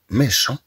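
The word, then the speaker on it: méchant: ثم عندنا أن غارسون ميشون إذا نتكلم عن طفل شرير أن غارسون ميشون طبعا في حالة المؤنث نقول أون في ميشونت بنت شريرة نضيف أ فتنطق الطي ثم عندنا لو بوان لو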